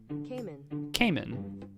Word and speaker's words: caiman: Cayman. Like he came in the door.